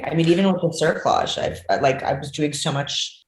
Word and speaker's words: cerclage: And then there's another one that, to my understanding, is a bit more invasive, and it's a cerclage. Pretty sure that's how you pronounce it.